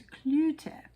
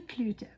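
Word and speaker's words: Cloete: And when I looked up the pronunciation on um Google, it told me that it is Clut. So it is Shirley Clute from South Africa.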